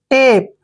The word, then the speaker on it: tape: जब भी लास्ट में ई आता है तो ई का उच्चारण हम नहीं करते हैं। टेप।